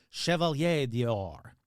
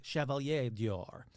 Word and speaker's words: Chevalier d'Or: Now, he wielded power and influence, commanding 2 castles and earning the French honorary title of Chevalier d'Or. That's right. I pronounced it right. Chevalier d'Or.